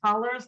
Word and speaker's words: Hollars: guest holla hollers hollers like yells that's how you pronounce it yep what's up you